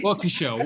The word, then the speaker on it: Waukesha: he says you've got to ask them about wakasha county have i got the pronunciation right waukesha county walker show working show there we go um either you